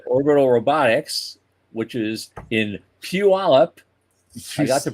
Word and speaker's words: Puyallup: But Orbital Robotics, which is in Puyallup, I got the pronunciation right.